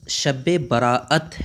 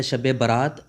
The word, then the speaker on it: شب براءت: صادق تک رہتی ہے۔ اس لفظ کا اصل تلفظ شب براءت ہے۔ عام طور پر جو مشہور ہے شب برات، یہ غلط ہے۔ برات کا معنی ہوتا